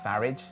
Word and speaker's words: Farage: no I said tidy my garage not goatey farage anyway it's pronounced farage and goatee sounds nothing like tidy